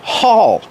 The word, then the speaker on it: haul: We use the verb haul. Pronunciation, aw, like ball and call.